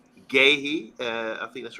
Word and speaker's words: Guéhi: I always find it hard to pronounce his name. Guéhi, I think that's right. Very good defender, centre back from Crystal Palace. Reports have been keeping close tabs on Guéhi, who has gone from strength to strength since